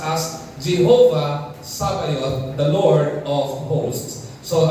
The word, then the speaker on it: Sabaoth: The correct pronunciation of that is Jehova Sabayot. Okay. Some pronounce it as Jehova Sabaot but it was it would be properly pronounced as Jehovah Sabayoth the Lord of hosts.